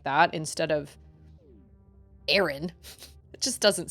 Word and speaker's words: Aran: Metroid Prime 3 um they pronounce her name Samus Aaron I thought it was Samus Iran call me crazy but